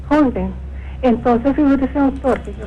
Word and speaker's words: Sjögren: donde dijo que había que descartar Sjögren se pronuncia. Sjögren.